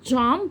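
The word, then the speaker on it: jump: تقفظ واخلي بالي ان لما بنطق حرف الجي في كلمه جامب فبحط كده حرف الدي خفيفه قبل ايه قبل الجي فبقول جامب جمب يو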